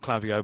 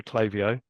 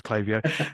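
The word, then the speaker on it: Klaviyo: on to clavio um not clavio by the way clavio um there you go that's another St story for another day um how to choose a choose a brand name that no one can pronounce but it is clavio um and that was an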